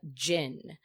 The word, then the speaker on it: cin: Turkey will include the Gin it is spelled c-i-n but pronounced like gin which basically people would